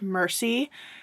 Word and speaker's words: Mercy: character's first name because it's spelled like the word merci in French, which means thank you. But as far as I can tell, based on how other characters were interacting with her and some of the way the dialogue was worded, I believe her first name is pronounced Mercy.